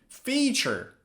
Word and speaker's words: feature: Pay attention to the pronunciation and the phonetics. Future with the sound eu, future, and feature with the sound e, feature. Now, future is a period of time, past, present, future.